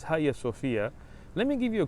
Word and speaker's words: Hagia Sophia: the government of turkey turning the museum at haya sophia into a masjid now haya sophia some people mispronounced as hagia sofia but it's higher sophia let me give you a quick history lesson